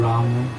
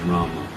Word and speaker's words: Rama: Well, in my opinion, the full Sanskrit pronunciation is Rama. The Bengali pronunciation may be Ram. In Bengali and Hindi also, the M in itself constitutes that akshara. So when you say Ram, the A part of the Ma is understood.